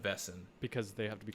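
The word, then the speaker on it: Wesen: One of the Grimm's best friends is a Vesson, which is spelled Wesson, but it's Yep. Vesson.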